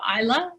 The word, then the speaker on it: Islay: to go to the island of isla and which is spelled islay but it's pronounced isla and there is a